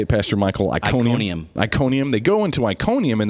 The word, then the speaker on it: Iconium: Iconium.